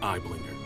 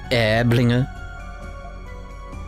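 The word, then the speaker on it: Aiblinger: same wavelength patience lieutenant eyeblinger there is an order to these matters it's pronounced airblinger firstly how much do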